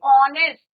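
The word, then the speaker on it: honest: Similarly ऑनेस्ट, एच is your silent, आपका sound किसका आ रहे हैं, वॉबल साउंड आ रहा है।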